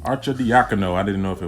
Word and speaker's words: Arcidiacono: And to give out some value, I know you like Ryan Arcidiacono. Arcidiacono.